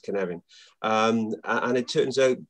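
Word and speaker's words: Cynefin: it's sort of spelt cyan offend but it's pronounced canary um and it turns out that it's hugely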